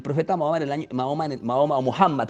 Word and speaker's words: Muhammad: mohamad el maom maoma muhammad como le llaman en árabe yo hablaré de maoma porque es como se pronuncia en español y es fácil pronunciarlo